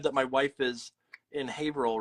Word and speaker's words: Haverhill: It's not Haverhill? Haverhill? no, it's Haverhill.